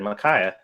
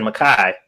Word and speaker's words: Micaiah: Satsu is right, but pronounce the A at the end. Yeah, that's what I said. Micaiah. That's what because I said Makai.